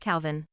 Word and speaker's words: Kelvin: Baraline, 4F, pronounced Bryalyn, Falcon, 3M, pronounced Falcon, Rorai, 3F, pronounced Rory, and Kelvin, 1M, pronounced Calvin.